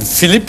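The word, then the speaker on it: Filip: Le vrai duo de votre vie, c'est quand même Philippe. Alors, il faut le dire avec l'accent belge, parce que ça s'écrit en flamand. F-I-L-I-P, c'est ça.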